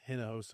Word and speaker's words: Hinojosa: Um it is pronounced henosa. Okay. Yeah. Yeah. Yeah. Is it fun or is it correct? No it's it's like h is kind of like silent and like inos.